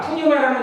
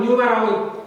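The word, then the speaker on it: pneuma: 그래서 이 단어가 푸뉴마라는 단어예요. 헬라어 푸뉴마 또는 뉴마라고 읽는데 이것은 영을 가리켜요.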